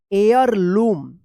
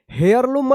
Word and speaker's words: heirloom: एयरलूम। एयरलूम पढ़ा जाएगा। यहाँ पे भी एच साइलेंट रहेगा, यानी हेयरलूम मत पढ़िएगा, एयरलूम पढ़ा जाएगा, ठीक है।